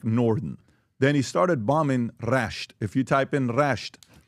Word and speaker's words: Rasht: R-A-S-H-T. He's got a summer Iran. place Iran. there. He knows how to spell it.